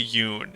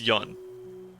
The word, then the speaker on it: Yun: I keep pronouncing her name too close to Yoon. It's Yun. Yun.